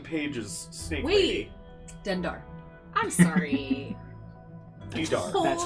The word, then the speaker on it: Dendar: Dendar. I'm sorry. Dedar. Hold That's up. this Wait a Dendar. minute. Dendar. Dendo. Dental?